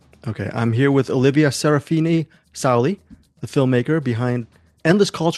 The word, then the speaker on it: Serafina-Sauli: First off, Olivia, how do I pronounce the full name? Serafini-Sauli. Okay, I'm here with Olivia Serafini-Sauli, the filmmaker behind Endless Calls for Fame, the story of the new rising suns.